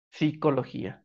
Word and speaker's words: psicología: también va a pasar con la palabra psicología que lleva como en su raíz original la letra p al principio es muy difícil pronunciar pues psicología psicología entonces para una facilidad de pronunciación se elimina la p y se pronuncia psicología No ya y de